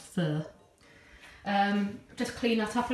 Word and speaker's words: pho: fur which is pho some people call it pho but it's actually pronounced fur just clean that up